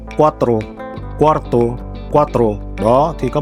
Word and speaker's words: cuatro: từ cuarto này nó gần giống với từ cuatro, tức là số 4. Thế cho nên là nhiều khi các bạn mới học ấy thì hay nhầm lẫn cái từ hai cái từ này. Cuarto, cuatro, cuarto, cuatro.